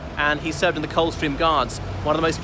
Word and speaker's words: Coldstream: of England, near Scotland, Coldstream. But the regiment's always pronounced Coldstream, with the D dropped.